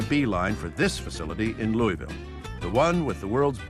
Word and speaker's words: Louisville: him losing his head we still call it Louisville central to Kentucky's character is its ongoing struggle